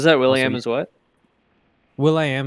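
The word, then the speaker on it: will.i.am: Will I Am is actually meant to just be pronounced as William.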